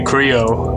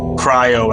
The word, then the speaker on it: Cryo: This is very Creo. Cryo, I guess it's actually pronounced.